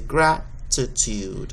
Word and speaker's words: gratitude: going to show that there's a little apostrophe to the beginning of the first syllable which is going to be graph so you're going to say graph to tude okay um and that's